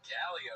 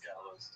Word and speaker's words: Gallo's: Yeah, is that Galio? He doesn't even say it right. No, it's Gallo's.